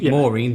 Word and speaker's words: Maureen: I know it's Maureen. I know that's 2 syllables, so I'll often get them to think of the name.